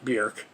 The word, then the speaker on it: Björk: it, and that's why if you say Bjork, it'll come up Bjork, even though it's technically pronounced Bjork.